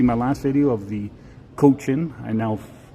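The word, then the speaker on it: Cochin: If you didn't see my last video of the coach-in, I was informed how to pronounce that. I kept saying Conklin for whatever reason. Coach-in, Saskatchewan's only lighthouse.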